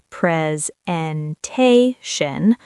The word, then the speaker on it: presentation: Presentation, presentation, 4 syllables, stress on the third.